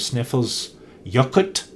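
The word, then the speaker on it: Snæfellsjökull: the f570 road up the back side of sniffle's yacht aiden tells me is the way to pronounce it the volcano that and which has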